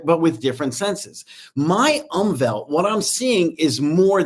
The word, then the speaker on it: Umwelt: I read tons of books on neuroscience, and the word is umwelt. It's spelled UMWELT.